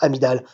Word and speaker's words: amygdale: Ça s'écrit amygdale, mais ça se prononce amygdale.